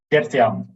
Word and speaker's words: Gertjan: Gertjan. Gertjan, yeah. Oh, see, I did know the J is a Y, but we're still not sure how to say it.